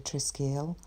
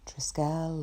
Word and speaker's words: Triskele: So the shape that we're drawing today, the Triskele, or Triskele or Triskelion, depending on your pronunciation.